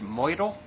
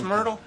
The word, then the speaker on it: Myrtle: line in the bronos isn't that pronounced mle it really is Myrtle okay also a project